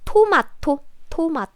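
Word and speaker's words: 토마토: is from english but if you say tomato then korean people will not understand where they will be like who i see because korean pronunciation is too matu yeah the pronunciation is different right tomato and next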